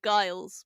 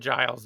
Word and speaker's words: Giles: I mean, to be fair, you thought it would be pronounced guiles, which I don't know if that sounds more or less aristocratic. Maybe I've met a bunch of Giles and then I've called